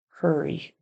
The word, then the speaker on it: hurry: just washed her face and hurry sounded a little bit like hairy got to get that erer sound here even though it's spelled with a UR hurry then she put on